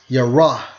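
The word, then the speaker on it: יָרֵא: and 72 and it's pronounced as Yar yar okay now let's get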